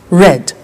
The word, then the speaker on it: read: read notice that now read and read are written exactly the same but the pronunciation changes in the past tense read red say said send sent